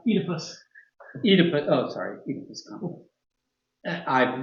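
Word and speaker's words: Oedipus: consequence of an unresolved odipus complex that causes him to regard the photographer as if she were his own mother, especially when she makes pancakes. Technically, it's pronounced Edypus.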